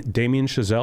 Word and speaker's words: Damien Chazelle: I watched uh Babylon finally the uh Jamie Damien chazelle is actually how you say his name the